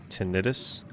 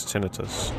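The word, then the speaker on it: tinnitus: See cuz most of us say tenitis. So we can say a common misprononunciation is tinitus.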